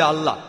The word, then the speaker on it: আল্লাহ: একমত উচ্চারণে কিছুটা পার্থক্য তারা বলে আলা আমরা বলি আল্লাহ উচ্চারণ কিছুটা আলাদা তবে